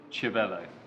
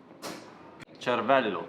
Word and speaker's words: Cervélo: I also know someone that pronounces it Cervélo. No. Cervello. Cervello, like, it's brain in Italian.